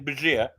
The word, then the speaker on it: Bergier: Begere. It's the French name, Bergier.